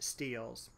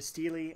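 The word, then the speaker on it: stele: about a couple steelies or sometimes they are pronounced steels this first one is the steely of nerum sin and a steely i should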